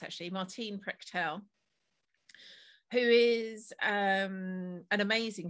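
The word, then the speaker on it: Martín Prechtel: the quotes from the oral teachings teachings of martin martine is pronounced actually martine prechtel who is um an amazing shaman and it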